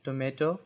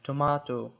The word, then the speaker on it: tomato: same way for example the word tomato is pronounced with a short a in American English like tomato while in British English it's pronounced with a long a like tomato these differences in pronunciation